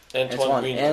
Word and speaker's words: Antoine Griezmann: Antoine Griezmann.